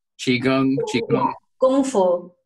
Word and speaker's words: Qigong: So it's Qigong just the same as Kung, like Kung Fu, Qigong, Qigong.